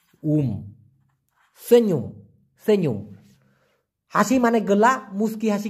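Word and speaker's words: senyum: হয় সেনুম এস ই এন ওয়াই ইউ এম উচ্চারণটা হবে সেন ই উমু সেনুম হাসি মানে গোলা মুচকি হাসি কে বলা হয়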